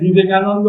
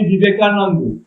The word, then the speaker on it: বিবেকানন্দ: এই প্রথম দিনে স্বামী বিবেকানন্দ বিবেকানন্দ হয়ে গেল ওখানে বিবেকানন্দ বানানটা অনেকে জানে না প্রত্যেকটা কাগজ উনার নাম বের হলো কেউ বলছে স্বামী বিবেকান কেউ বলছে স্বামী বিবেকানন্দ কেউ বলছে স্বামী বিবেকান মানে বানানটা কি বলছে